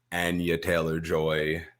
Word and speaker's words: Anya Taylor-Joy: We got our family in court, Anya Taylor-Joy.